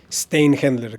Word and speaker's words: Szteinhendler: Steinhendler, casi como se lee, pero sí tiene muchas letras.